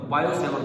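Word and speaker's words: Biot-Savart: बायो-सेवर्ट लॉ, T silent होता है, बायट लिखा जाता है, बायो-सेवर्ट लॉ।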